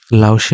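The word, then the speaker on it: 老师: এই সি যখন উচ্চারণ করতেছি তখন একটু টান দিচ্ছি। তো এইভাবে লাওসি মানে হচ্ছে আপনার হলো শিক্ষক।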